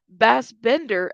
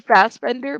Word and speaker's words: Fassbender: She was a supervillain with powers, and Michael Bassbender as a Magneto was fighting her. You guys know who Michael? Oh my gosh. You mean Fassbender? Michael Fassbender? Not Bassbender.